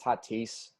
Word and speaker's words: Tatis: glad all right first of all trading it's pronounced tatis and second of all and second of